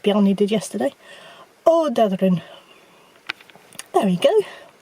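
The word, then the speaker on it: Ódáðahraun: Odadrin. There we go. You have to just sort of cut out several of the syllables.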